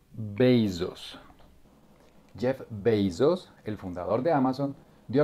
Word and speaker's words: Bezos: importante bienvenidos 2019 muchos besos suena como beso en plural además aquí dice que se pronuncia 6-2 jeff bezos el fundador de amazon